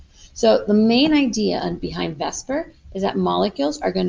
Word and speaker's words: VSEPR: We pronounce it as VSEPR.